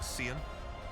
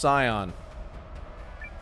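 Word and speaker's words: Seign: Well, young Sion, what do you Scion. say? Will you fight for the glory of your house? It's pronounced Scion. As you command, sir. It's pronounced Scion, sir.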